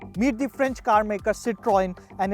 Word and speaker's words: Citroën: And lastly, how to pronounce the name correctly? Well, it's very simple. It's Citroën.